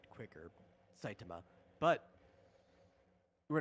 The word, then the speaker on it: Saitama: Satama. Saitama. He's named after the Saitama Prefecture. That's a good guess. Is there anyone else? Yeah, actually the latter half should be said quicker. Saitama, but we're not speaking Japanese here.